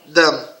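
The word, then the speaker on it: דם: Se a gente tirar o prefixo aqui, que é essa letra, vai ficar só Dam, certo?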